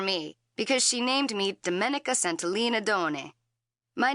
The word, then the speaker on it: Domenica: woods and a river my name is pronounced in the Italian way Domenica Dominica Don it's